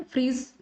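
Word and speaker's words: Phryges: Friis आप देख पाएंगे फ्रिस को प्रोनाउंस करेंगे हम यहां पर फ्रीज हिंदी में तो यहां पर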